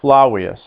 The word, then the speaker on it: Flavius: notice how that's spelled f l a v i u s but in latin the letter v makes a w sound so we're not going to say flavius it's flawless flawless flawless now in panel four